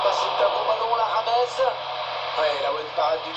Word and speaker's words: James: Lewandowski, Rodriguez, quelqu'un qu'on appelle juste Rames, et qu'il faut surtout prononcer Rames, c'est pas James, comme on l'avait cru au début d'ailleurs.